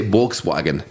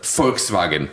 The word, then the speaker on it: Volkswagen: and now I say I mispronounce my own language to fit in with Americans instead of saying I say I say Volkswagen instead of Volkswagen fwag say Volkswagen so that so Americans